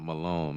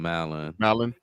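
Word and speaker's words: Mallon: So it's not Malone. Malin.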